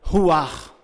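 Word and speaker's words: רוח: a sua origem na palavra Hebraica ruar uma palavra que você precisa de muito ar para pronunciar né R que fala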